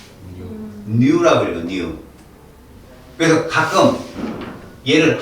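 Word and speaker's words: ν: 물리학에 가면 이렇게 쓴다 이거 뭐라고 읽어 V 이러지 마라 라틴어야라고이 뉴 그래서 가끔 얘를 하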